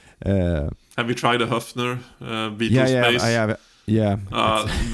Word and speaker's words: Höfner: And yes, I say Höfner because I'm a language nerd, and that's how you pronounce it, because it's an Ö. It's not a Hofner. Yeah, exactly. Höfner is probably the closest approximation.